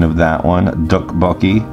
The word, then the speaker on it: tteokbokki: pronunciation of that one duck bulky now it's not d and it's not hard T it's like a soft T so it's just two